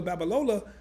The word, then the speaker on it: Babalola: to say it because you have to say it fast and let it roll out but abdullah told me about bitcoin in 2017.